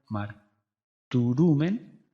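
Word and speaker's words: μαρτυροῦμεν: el verbo martus men su tema radical es martur su pronombre es humen la transliteración es martur turen se pronuncia marumen se traduce testificamos decir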